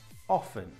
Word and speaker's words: often: people who say often but which is correct often is correct the tea is completely silent it